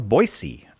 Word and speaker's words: Boise: We're going to Boise, Idaho. Despite that being don't tell me, intervocalic S. Intervocalic S. Intervocalic S. Intervocalic S. It's pronounced with the S sound.